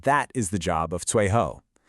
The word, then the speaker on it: 最后: Unlike the flowing tones of 然后, here we have two strong, sharp, falling fourth tones. 最后.